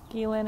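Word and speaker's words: Ghislaine: That's the pronunciation. Ghislain and Epstein and the people who they recruit and hand over trafficking victims to.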